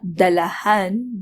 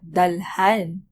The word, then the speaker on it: dalhan: added instead of on also it is not dalahan but dalhan this is for ease of pronunciation which is the same